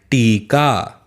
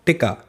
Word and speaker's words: टीका: दोहरा मेरे साथ टीका मैंने कहा ना बड़ी की मात्रा लगी है अगर छोटी की लगी होती तो क्या बोलते हैं आप टिक्का है ना लेकिन बड़ी की लगी है इसलिए क्या पढ़ेंगे टीका वेरी गुड ऐसे ही